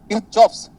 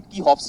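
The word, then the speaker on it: Kirchhoff: किरचॉफ्स गलत है, क्या बोला मैं? किरचॉफ्स का जो प्रोनाउंसिएशन है वो गलत है। सुनो ध्यान से, किरचॉफ्स का जो प्रोनाउंसिएशन है वो गलत है, वो होता है कीहॉफ्स।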